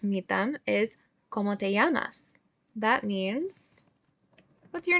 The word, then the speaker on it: llamas: name como te llamas and remember with this double l we're going to pronounce that like a y we are not going to say como te lamas i'm going to say